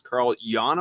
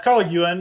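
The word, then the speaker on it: Carl Yuan: today, and that is Carl Jan. Am I saying that correctly? It's Carl Ewan, I think, but it matters to him. I'd like to say it right.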